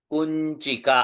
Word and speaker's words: कुंचिका: कुंचिका। अब देखिए कुंचिका, हाँ, वो बीच में च के आगे है, वो अनुनासिक केवल करना है। कुंचिका।